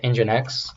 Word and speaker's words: nginx: going to use today is this thing called nginx um it's spelled MGI and X which is a funky